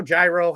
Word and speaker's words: gyro: How do you pronounce it? Hero, gyro?